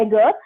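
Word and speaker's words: ager: First is बोला जाता है इसे एगर, ओके, लैटिन में इसे इस तरह से प्रोनाउंस किया जाता है एगर, एंड नेक्स्ट इज कल्चरा।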